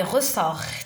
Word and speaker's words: ressorts: Il a des ressorts. TS muet.